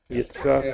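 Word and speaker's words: יצחק: Did Yitzhak? Yitzchak, yeah.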